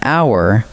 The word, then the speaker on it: hour: A unicorn, because it opens with a U sound, and an hour, because the H is silent.